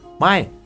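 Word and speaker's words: ไม่: Слово «май» произносится с восклицанием «май». Следующее слово «ао» произносится в обычной тональности «ао», «ао».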